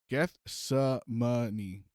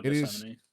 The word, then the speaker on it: Gethsemane: How to pronounce. Anyway, so it's the garden where he was like Gethsemane. Yeah. Oh, Gethsemane.